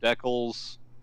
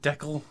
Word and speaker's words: decal: frankie IL pil that canadians pronounce the word decal like Beckel ok so it's a Canadian Benito I'm from Vancouver and I almost always hear it pronounced deckle I almost always snicker